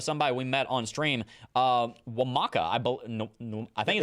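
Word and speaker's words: Nwamaka: we met on stream, Wamaka. I think it's Wamaka. I think the N is Wamaka. The N is silent, I think. It's subtle. It's there. It's subtle.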